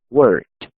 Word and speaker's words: worked: La ed se escribe, más la pronunciación, simplemente no se pronuncia esta e. Esta no se pronuncia, ¿ok? Entonces, ¿cómo quedaría? I worked, you worked, he worked, she worked, it worked, we worked, you worked, they worked.